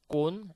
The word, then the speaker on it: cône: say it here, but just to see the difference of pronunciation, cône and con.